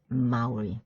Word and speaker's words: Maori: And there's also this one that also takes capital because it is a word of origin, and the pronunciation is Maori.